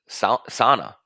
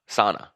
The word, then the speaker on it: sauna: And I'm wondering, how do you pronounce Sauna? Sauna. Not sauna. I thought you slipped there. You said sauna.